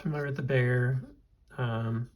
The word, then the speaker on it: Bexar: like this it's the it's the bear it's spelled b-e-x-a-r it's a Magna cut